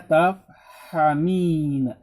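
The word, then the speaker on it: تَفْهَمِينَ: Huruf mudhari'ahnya adalah ta, bukan iya, tapi ta. Dibacanya tafhamina.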